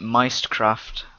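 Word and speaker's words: Mystcraft: I pronounce it Meistcraft because they put a Y instead of an I. They fuck up the spelling, I'm going to call it Meistcraft for the rest of its life.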